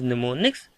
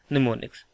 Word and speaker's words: mnemonics: This word is pronounced as mnemonics. Here this M is silent, so you don't have to read this M. Fine. It will be simply mnemonics.